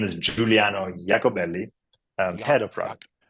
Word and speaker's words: Giuliano Iacobelli: dude Richard thank you so my name is Juliano jakobelli and had a prop right and you had